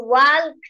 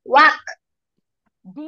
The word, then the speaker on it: walked: হ্যাঁ, এটার প্রোনাউন্সিয়েশন হবে ওয়াক। ওয়াক। হ্যাঁ, ওয়াক। লাস্টে ডল টার্ন হবে ওয়াক। when he walked by the water, walked by the water, ঠিক আছে ফাতেমা? ওয়াক। ওয়াক। ডি বলো, লাস্টে ডি প্রোনাউন্স করো, ওয়াকড।